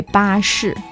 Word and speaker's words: 巴士: The easiest one sounds even like buses. You can say 巴士.